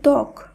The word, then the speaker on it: ত্বক: একইভাবে ত্বক, যেখানে তয়ের সঙ্গে ব যুক্ত রয়েছে, শুদ্ধ উচ্চারণ যখন আমরা করব তখন কিন্তু সেই বয়ের উচ্চারণটা আর উচ্চারিত হবে না।